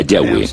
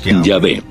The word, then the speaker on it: Yahweh: De acuerdo con una de las explicaciones, Abraham conocía a Dios por su nombre más íntimo y personal, que normalmente se pronuncia Yahweh, Yahvé. Los pasajes con el nombre